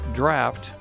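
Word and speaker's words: draught: Pronounced draft, this English word means the depth of water needed to float a ship.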